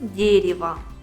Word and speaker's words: дерево: вот возьмем другой пример пишем дерево произносим дерево в обоих словах у